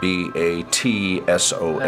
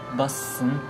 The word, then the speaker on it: Batson: Now what about, for example, in my name is spelled B-A-T-S-O-N, S-O-N. but the way my boss spells it in Korean, it would be the B sound, but she puts that S, Busson. yes, rather than Batson.